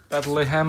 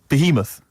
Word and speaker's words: Behemoth: I can't pronounce this one. Oh, let's have a look. That's good. Bethlehem or something. Bethlehem. Baoth. Behemoth.